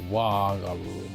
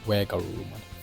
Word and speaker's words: WereGarurumon: Were, but I think I pronounce Wa because in the Japanese pronunciation they call it Wa Garurumon, I think. Yeah, but in this case, if you use the original kind of intention where it's werewolf, then it should be Were Garurumon.